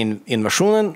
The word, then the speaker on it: INVSN: So our drummer just said, let's just spell it INVSN. And then in Sweden, we can still say Invasionen. Right. And in the States, we can say Invasion.